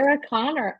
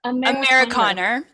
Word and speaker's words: Amerikaner: Amerikaner. Amerikaner. It's like America.